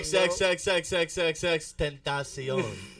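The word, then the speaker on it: XXXTentacion: Put some respects XX Tentacion on my man's name. Stop playing with him. XXXXXXX Tentacion.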